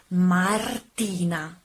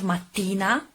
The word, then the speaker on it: Martina: The correct pronunciation of my name is Martina. Martina. You have to roll your R. Not mattina, that in Italian means morning, by the way.